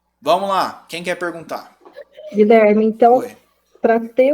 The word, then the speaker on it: Guilherme: pronúncia não é guilher eu não pronuncio U esse U é diacrítico ele é um ío com g g g g depois eu vou pro I direto eu não falo Guilherme Guilherme quero tem encontro